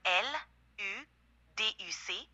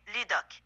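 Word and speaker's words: Luduque: Avec les lettres L, U, D, U, C, ça fait Ludoc. Non. Non. L-U-D-U-Q-U-E. L, U, D, U, C. Non. Ça fait... Oui, ça fait Non, c'est pas ça. Moi, la prononciation, c'est Luduc.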